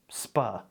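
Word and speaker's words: sp.: And we like pronouncing those abbreviations for some reason, so we'll just say SPA.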